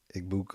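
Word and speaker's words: Egbuka: And my number one is Eggbuka. That's how you say his name. Eggbuka.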